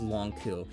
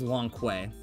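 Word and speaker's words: Lon'qu: It's pronounced Long Ku. And I remember when I was a kid, I saw that, I'm like, his name was Long Kui. For, like, years, I thought his name was that.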